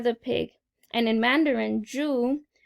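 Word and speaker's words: 猪: The ad was for the Year of the Pig, and in Mandarin, Zhu, ZHU, means pig, which is similar to the English pronunciation of Jew.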